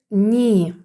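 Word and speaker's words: knee: транскрипції флегматик розглянемо тепер літеру K яка ніколи не вимовляється на початку слів якщо після неї йде N наприклад коліно ми будемо читати Ні Кей не прочитується Кей нема тому в транскрипції просто Ні відкритий склад тому подовжене голосна далі ніж найф в'язати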